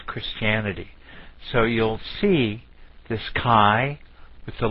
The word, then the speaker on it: chi: want to call it Chi some like Chi like a chipet or some other way but Kai is the way it should be pronounced so I'm trying to